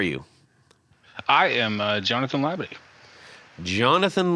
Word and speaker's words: Labadie: guest who are you I am uh Jonathan labid Jonathan labid and uh that is the correct pronunciation I checked with the uh the recipient